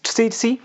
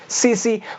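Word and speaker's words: tsetse: कुछ लोग कहते हैं इट्स CC, कुछ लोग कहते हैं इट्स CC, कुछ लोग कहते हैं इट्स SATC।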